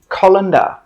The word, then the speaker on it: colander: This is a 'colander'. Colander. Three sounds. Co lan der.